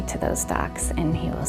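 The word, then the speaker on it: doch: in our family there's a German word spelled D o c h and it's pronounced do um and do is a word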